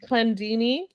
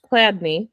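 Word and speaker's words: Chladni: And then Clandini, Cladney, thank you. Ernst Cladney, there we go.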